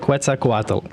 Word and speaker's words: Quetzalcoatl: Quetzalcoatl.